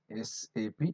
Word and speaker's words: SAP: the independent similarly okay we have to call it as SAP independent letters okay don't call it as SAP now onwards so always we say